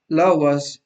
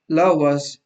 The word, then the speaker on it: Laue: and this is called Laura's scalar. Let me write it down. It's spelled like this: Laue, and it's called Laura's scalar.